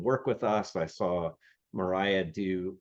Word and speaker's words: Myhriah: And we're joined today by Myhriah, and I have the right pronunciation. And now I know that Dan Miller put in my head that her name was Myria or Myra.